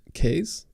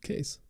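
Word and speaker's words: Qais: My name is an Arabic name, and it's pronounced Kays in English. Kays.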